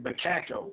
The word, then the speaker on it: Becaco: Okay, so when George registers his horses, he registers, you pronounce it Becaco, which stands for Beg's Cattle Company.